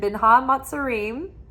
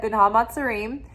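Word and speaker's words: בין המצרים: So we're in Binha Matzarim. That's the right way to say it, Binha Matzarim.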